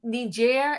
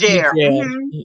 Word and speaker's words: Niger: So so it's pronounced Niger. Am I pronouncing it right now? The situation. Yes, Niger.